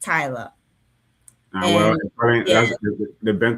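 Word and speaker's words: Tyla: Is it Talia. Tyler or is it Talia? Because you've been Talia. saying Talia. It's Tyler.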